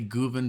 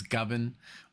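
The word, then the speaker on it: Govan: I usually say Guven, but I know it's Govin, or I don't know.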